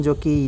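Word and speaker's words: Jacques: जैक Laka, इसको जैकस मत पढ़िएगा, उसको लाकान मत पढ़िएगा, ठीक है। जैक पढ़ा जाता है इसको, जैक लाका, ठीक है।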